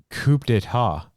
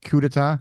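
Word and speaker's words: coup d'état: So Circle Jerks performs at Coachella, and they played a song called Coup d'etat. Aha! And that's not coup, it's coup d'etat. Coup d'etat. Thank you. You know how my pronunciation. It's like crudité.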